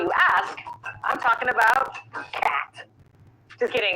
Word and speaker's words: khat: While it goes by many names, depending on who you ask, I'm talking about khat. Just kidding, it's pronounced khat.